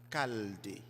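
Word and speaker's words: Chaldée: quitter sa ville natale caldé ça s'écrit avec un ch c'est cald conformément au récit de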